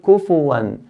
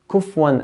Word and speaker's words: كُفُوًا: Then we have the word kufuwan. Fa has a dhamma. Kufuwan. It's very common to hear kufwan ahad, kufwan, by making the fa sukun.